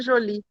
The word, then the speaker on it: Joly: com a pronúncia errada, mas é, é como se fosse um nome francês, é Jolie, meu nome.